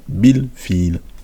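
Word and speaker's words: بالفيل: Et la hamzat wasl. Donc on sait qu'on ne l'écrit pas lorsqu'on le lit. Bil directement. Bil fil.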